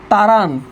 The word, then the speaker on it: তাড়ান: তাড়ানো, এখানে আছে, এখানে হবে তাড়ান, উচ্চারণ কি হবে? তাড়ানো।